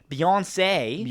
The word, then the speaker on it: Beyoncé: Beyoncé Giselle Knowles Carter, pronounced Beyoncé, Beyoncé.